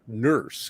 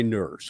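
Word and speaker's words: Nourse: man named alan e nurse it's pronounced nurse but spelled n-o-u-r-s-e and ironically he was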